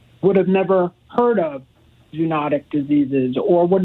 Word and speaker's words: zoonotic: I've always just read I always pronounced it in my head zoo notic but somebody Yale called yesterday and said it's zone otic so anyhow tell me about this these these diseases are certainly common I'm not sure if I can help the pronunciation debates I think it might be tomato tomahto but I can tell you